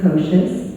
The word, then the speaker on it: Kocias: My name is Kocias. It rhymes with supercalifragilisticexpialidocious.